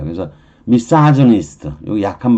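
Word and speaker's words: misogynist: 그래서 발음은 가이네로 발음 안 해요. 이건 영어식 발음이니까 다음에 Y가 나왔잖아요. 보통은 영어 발음일 때는 I 쪽의 발음은 약 발음이잖아. 약한 발음이면 강한 그루 발음이 안 되고요. 약한 즈의 발음을 하는 거예요.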